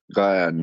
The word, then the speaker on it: Ghyan: Brother Ghyan, how do you say your name? Ghyan? Yeah, Jan. something like that. Yeah, Gyan, yeah.